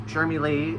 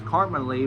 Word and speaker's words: Shermie Lee: I thought it was Carmen Lee, but it's Shermie Lee. I watched videos and everything. It's Shermie Lee, not Carmen Lee.